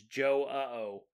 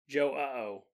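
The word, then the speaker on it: João: come up with is Joe uh oh Joe uh oh but then you have to pronounce the J like a sh a sh sh luckily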